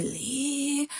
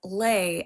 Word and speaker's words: Leyh: Like everyone that I knew before I got married would be like Lee. And I had to just keep telling them it's lei as in sleigh.